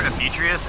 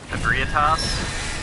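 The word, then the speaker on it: Ebrietas: I always called her Ebeatrius, and I just realized recently that that was wrong. Ebriatas is how it's pronounced.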